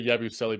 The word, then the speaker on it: Yabusele: I want to hear Kory say Yabusele before we move on. I'm not gonna lie; it took me a second to pronounce that because go ahead, Kory. Yabusele. There's only one S in his name, bro.